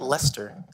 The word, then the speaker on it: Leicester: Leicester. It's L-E-I. Yeah, it doesn't like make sense. But it sounds like L-E-S.